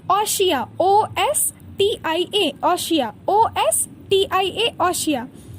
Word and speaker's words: ostia: ऑशिया, OSTIA, ऑशिया, OSTIA, ऑशिया।